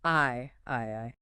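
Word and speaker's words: 愛: kanji for the word love, which is pronounced I I.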